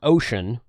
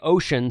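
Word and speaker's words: Wouxun: and says, no, it's Oshang. Every time I say Oshang, sometimes someone comes along and says, no, it's Ocean. You know what? It's spelt with a W.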